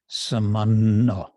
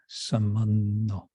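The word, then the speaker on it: sāmānya: This in Sanskrit, it would be samanya, but in Bengali, you kind of mentally turn the Y into an additional N. So it becomes samanno, samanno.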